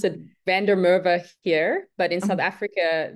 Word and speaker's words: Van der Merwe: I pronounce it Van der Merwe here, but in South Africa, they would kill me for that. So in South Africa, we say Van der Merwe.